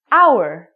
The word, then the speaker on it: hour: for example the word our we do not even say the H word it sounds like we're saying our so because this word our sounds like a vowel because the H is silent we have to say